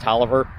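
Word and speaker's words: Taliaferro: named robert talloff here talia faro pronounced toliver and it's robert the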